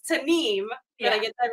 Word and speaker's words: Tanimu: And it's Tanim. Did I get that right? Okay. Tanem is is how it's pronounced.